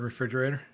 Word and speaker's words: refrigerator: never realized that um so the the D is silent it is so silent that it disappeared from the word the D the fridge couldn't